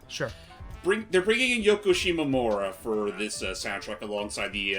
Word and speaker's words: Shimomura: Yeah, and Yoko Shigemuro. No, it was Coker, Greg Croker or something like that. Right. Sorry. And say Yoko's last name because I think I butchered it. Yoko Shimomura, aka the composer for such things like Kingdom